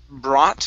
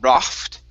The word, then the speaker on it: brought: Next here is brought instead of brocht. Okay, the G and the H there are silent.